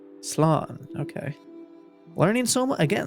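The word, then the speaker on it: slán: or safe journey home one dialect will pronounce it as Sloan Sloan okay learning so much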